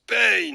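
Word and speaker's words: Pain: vois les pages de l'akatsuki point ça se prononce payne c'est pas la peine de le prendre mal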